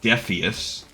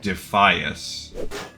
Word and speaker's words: Defias: I was a proponent or a uh convinced it should be defeus. I was pronouncing it phonetically as most places would pronounce that combination of letters.